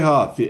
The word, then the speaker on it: Huth: My last name is Huth. Ooh, thank you. You're welcome. My bad. I was worried about mispronouncing your last name, but I'm used to it.